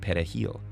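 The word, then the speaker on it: perejil: Spanish word for parsley Dominicans pronounced it pet a heel with a trilled Spanish are the primary Haitian language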